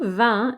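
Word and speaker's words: vingt: is pronounced just like van that you drink wine v-i-n but the g and t are there even though they never get pronounced sometimes the t will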